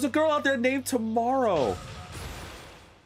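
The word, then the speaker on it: Tu Morrow: Someone decided to name their daughter Tomorrow. But it's pronounced it's spelled T-U space Morrow, M-O-R-R-O-W. It is an uncommon girl name,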